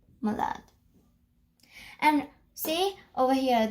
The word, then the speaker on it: malade: for malade you say malade. And see over here there's an E, so that is why you pronounce the D, the.